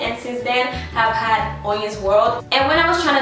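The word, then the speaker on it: Hoyin's World: y i ns world that is pronounced On's World On's world my middle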